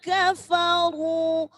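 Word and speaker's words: كفروا: Nah, hati-hati pengucapan fa ini kalau orang Jawa atau orang Sunda jadinya pa. Kafa, fa jelas. Innalladzina kafaru, ya. Ro kalau hurufnya dhammah maka ro-nya ro tafhim, dibaca tebal.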